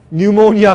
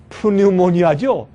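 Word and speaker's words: pneumonia: 뉴모니아 걸렸을 때 뉴모니아. 폐렴, 그렇죠? 그러니까 이걸 사실 그대로 읽으면 푸뉴모니아죠. 근데 이 피는 발음 안 하기 때문에 뉴모니아.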